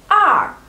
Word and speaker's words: 二: We pronounce it as R, R.